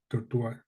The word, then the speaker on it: tortoise: like the Galapagos giant tortoise this is twice no tortoise tortoise which is a type of large Turtle right so we pronounce it Tortas tortoise okay they play a critical